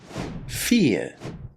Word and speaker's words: fear: The word character comes from Greek, and as such we're going to be pronouncing CH as K, character. Our next word is fear.